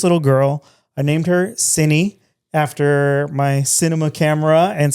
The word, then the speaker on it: Cinny: I named her Cinny after my cinema camera and cinematography. And a lot of people have asked how to pronounce it because it's C-I-N-E, but it's Cinny.